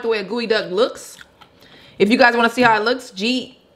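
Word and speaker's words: geoduck: Or eat a gooey duck.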